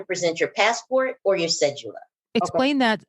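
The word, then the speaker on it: cédula: But they do like adults, record your passport and your cedula.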